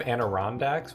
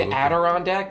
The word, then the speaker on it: Adirondack: Do you mean Adirondack with a fucking D? I've always pronounced it with an N. Have you read it? There is an N before the D, but there's a D.